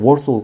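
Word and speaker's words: Warsaw: 무역 기구하고 이름이 같은데요 왜냐면이 바르샤바를 표기할 때 w w 포기하죠 월소 그렇게 영어로 발음을 합니다 하여튼 바르샤바 조약기구 아까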